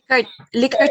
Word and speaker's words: Likert: Okay, yung Likert is, how do we pronounce it, ma'am? Likert siya, ma'am, Likert.